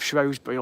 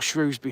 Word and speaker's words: Shrewsbury: who lived at Alton Towers the Earl of shury or Shrewsbury however you want to pronounce it and he was going back to